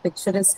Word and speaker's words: picturesque: So in the case of picturesque as well, the stress is going to be on the suffix s, the last one, the last syllable of the word.